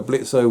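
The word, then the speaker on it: Blitzø: to help you and blitzer was saying of blitz the o is silent uh blitz was saying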